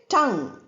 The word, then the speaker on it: tongue: We say tongue M. If you go to the beginners vocabulary one pronunciation, you will find all the 44 sounds. There you will find M sound. N and G together. That's where the word ends. UE is not pronounced at all.